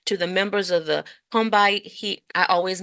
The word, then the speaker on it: Combahee: Jacobs to Lorde to the members of the Combahee, I always mispronounce that Yeah.